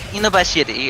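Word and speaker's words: 犬走: Inubashiri, if you really want the Japanese pronunciation.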